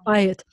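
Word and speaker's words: בית: house let's buy it so the accent is on the bai so it's by it and the plural is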